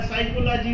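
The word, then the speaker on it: psychology: Knowledge में K silent रहेगा, साइकोलॉजी में P साइलेंट रहेगा, ये काहे भाई?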